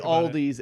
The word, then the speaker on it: Aldi: getting into it one aldi there's no s it's a hidden s everybody says it but it's not there the opposite of a silent letter it's a hidden letter it's like adidas yeah